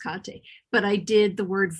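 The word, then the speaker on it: Kathe: her first name is k-a-t-h-e um but it's pronounced kante but i did the word voice with her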